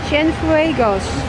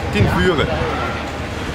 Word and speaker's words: Cienfuegos: Ger, hoe spreek je deze plaats een beetje knap uit? Cienfuegos. Cienfuegos.